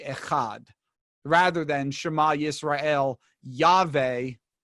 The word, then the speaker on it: Yahweh: Although, and here's one of the things you have to keep in mind for this conversation, W is pronounced V.